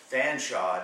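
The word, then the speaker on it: Featherstonhaugh: sanaa by the way that's pronounced Fanshaw in England for reasons I I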